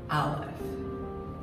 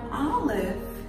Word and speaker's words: Aleph: this is the letter Aleph enemy give me a nice darker line there so itself is a letter now olive is a silent letter it has no sound zilcho no sound however